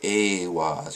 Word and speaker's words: Eihwaz: And I'm just saying Eihwaz because it makes sense to me. Others will say Eihwaz or Ihwaz, but not Ihwaz or Iwaz, because that's something else.